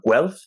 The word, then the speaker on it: Guelph: Yeah, and Guelph, I think is how you say it.